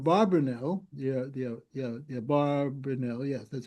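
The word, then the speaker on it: Abarbanel: the the orb barnel the the yeah the barrenell yes that's how you say it was the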